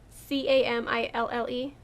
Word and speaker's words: Camille: So, this basically subpar reporter, Camille, I think it's Camille. C-A-M-I-L-L-E. In my head, I was pronouncing it as Camille, like Camille, but I guess it could be Camilla.